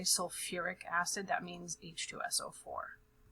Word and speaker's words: sulfuric: This one's a little unique because we also add extra syllables. So instead of just saying like sulfate, sulfic acid, we actually add some of the original letters from the parent here. So we're actually going to call it sulfuric acid.